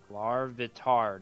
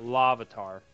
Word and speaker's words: Larvitar: Larvitar, not Lavatar.